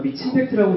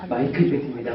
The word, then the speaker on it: 마이크임팩트: 감사합니다니다 네 감사합니다 어 저희 마이크 임팩트는 이렇게 보시면 미친 팩트라고 읽으시고 마이크로 임팩트라 읽으세요 그래 저희는 마이크 임팩트입니다 마이크를 통해서 긍정적인 임팩트를